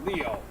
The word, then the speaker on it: Liu: It's written with a kanji for a lion, to be sure, but it's pronounced Leo.